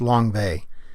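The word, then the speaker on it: Lang Vei: Langvay is two words, spelled Langvei, but pronounced Langvay, and it was the name of the U.S.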